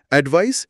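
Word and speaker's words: advice: হ্যাঁ, অ্যাডভাইস শেষে S sound, অ্যাডভাইস noun মানে উপদেশ।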